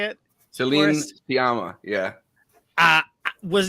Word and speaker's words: Sciamma: Celine Sciamma, yeah.